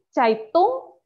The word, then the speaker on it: Zeitung: Kemudian ada di Zeitung, jadi EI dibacanya AI. Di Zeitung, di Zeitung, majalah atau koran.